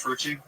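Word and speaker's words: Fruche: You didn't say my name right last time. It's Frucci.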